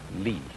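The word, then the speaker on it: 理: wood or the fiber in muscle and it's pronounced Le this is a character then meaning really the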